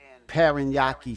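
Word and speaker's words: Parañaque: So before Frank, he had a hard time, to pronounce that, Paranaque or whatever, he said pa ra ra nya ki Paranaque.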